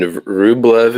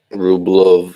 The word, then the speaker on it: Rublev: Then Rublev in Russian is more like Rublov.